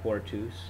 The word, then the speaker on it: portus: this in the dictionary it's going to be poor twos and notice that's a short U and then the genitive